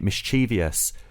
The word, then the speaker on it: mischievous: did they do that they also implied that there was an i after the V mischievous but when you actually spell the word it's actually it isn't spelled with an i after the V at all and um I think